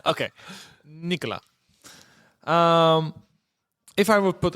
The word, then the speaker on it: Nicolas: But because we want to fool foreigners in French, we don't pronounce most of the time lost consonants. M okay Nicola um if I would put a crystal ball